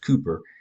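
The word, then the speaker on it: Kuiper: the Cooper Ki p e or but it's pronounced Cooper belt and this is where the plant these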